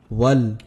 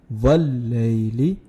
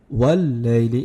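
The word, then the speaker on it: والليل: when there is Shadda, you have to join it properly, like to join it by emphasizing on it. So it will be Wal-layli. Say Wal-layli. If you say Wal, it will be wrong.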